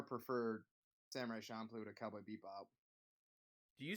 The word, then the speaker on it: Bebop: when you say it before, it sounds like you say beep bop, like with two P's, but it's bebop.